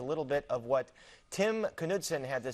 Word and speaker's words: Knudsen: Allison, who is Tim Knudsen, and am I pronouncing his last name correct? Timmy Knudsen.